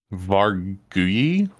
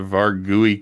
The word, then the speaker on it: Vargouille: What makes it interesting is it carries the curse, the Vargouille curse. I'm saying it that way because the end of the name is spelled the same way as like Andouille sausage.